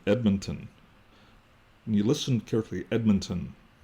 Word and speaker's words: Edmonton: Even here in Edmonton, when you listen carefully, Edmonton, you can hear an I in there.